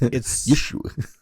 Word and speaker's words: Yeshua: Yes, it's Yeshua. It's spelled Yehosua.